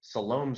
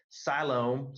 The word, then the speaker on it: Siloam: to travel to Siloam I said it I used to say it wrong I used to say Siloam Springs but it's Siloam Siloam Springs Arkansas yesterday to